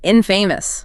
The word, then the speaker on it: infamous: And the video notes the pronunciation infamous stress on the first syllable.